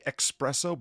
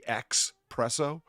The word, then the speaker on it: espresso: yeah oh specifically specifically don't just say espresso but actually spell it ex presso spelling saying it is